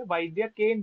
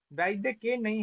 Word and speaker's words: वैद्यकेन: वैद्यकेन बोल रहे थे वैद्यके नहीं है वैद्यकेन नकार के उत्तर नकारो उत्तरवर्ती आकार का उच्चारण भी करना होगा एक भी खाए तो आपने हलंत बना दिया हलंत बनाते ही खत्म शब्द असाधु हो गया फिर हमें नहीं